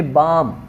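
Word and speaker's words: balm: पे के साइलेंट है, यहाँ पे बाम, बाम, एल साइलेंट है, यहाँ पे क्या है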